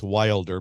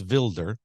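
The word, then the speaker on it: Wilders: by the name of Girt vilder spelled like we would in America pronounce Wilder but it's vilder Girt vilder he's the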